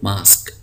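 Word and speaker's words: mosque: का आगे देखिए फार्म एम ओ एस क्य यूई तो यह जो यूई है इसको हम नहीं पढ़ेंगे तो यह लज है मास्क मास्क कहते हैं मस्जिद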